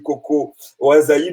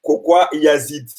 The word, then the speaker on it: Kokoa Yazid: J'ai dit Coco Ouazaïd, alors que c'est Kokoa Yazid.